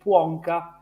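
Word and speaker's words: Płonka: construction is due to a Polish mathematician uh called Blanca actually well the correct pronunciation should be Wonka but you know I'm a lazy Italian so I'm I'm using the Italian pronunciation pronouns so my apology so I'm going to say Blanca anytime so given a direct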